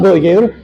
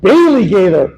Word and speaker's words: Bailey Gather: holy it's not Billy gather that's a preacher it's a Bailey gather wow don't watch this